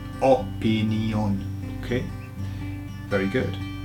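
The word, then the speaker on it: opinión: So can you see in the Spanish version it's opinion. So the emphasis goes on the last O.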